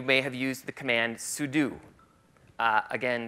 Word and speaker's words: sudo: Some of you may have used the command sudo. Again, some people say sudo, like it rhymes with judo.